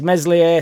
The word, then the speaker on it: Meslier: Club the other wild take is meslier silent s is the worst go